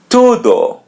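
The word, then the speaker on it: tudo: To do to do to As you see this letter U or U in Portuguese, we pronounce it oo to do to do.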